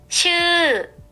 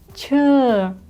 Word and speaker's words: ชื่อ: ชื่อ ชื่อ Чы, чы, чы. Надеюсь, я правильно это произношу. Это имя, и это будет нисходящий тон.